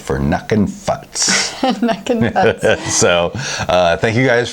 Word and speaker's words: Nukin Futz: I see it right you said it right nucking futs from track 7 Brewing Company at a Sacramento